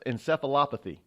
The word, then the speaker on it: encephalopathy: they die it's called chronic traumatic encephalopathy us encephalopathy yes I actually pronounced that correctly and according to records has